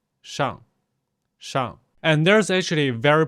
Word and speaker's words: 上: So the correct pronunciation is actually to avoid using retroflex sound and neither curl your lips or your tongue. Just keep the tongue flat and just say 上, 上.